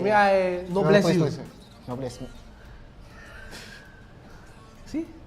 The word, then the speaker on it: noblesse: So, it's pronounced noblesse. It's a French word.